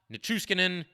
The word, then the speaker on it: Nichushkin: Makar taking a shot, Nichushkin, I always struggle with that. I always try to add an extra syllable to his name for some reason.